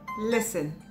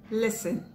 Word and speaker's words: listen: Listen, listen, not listen. Fasten, fasten, not fasten.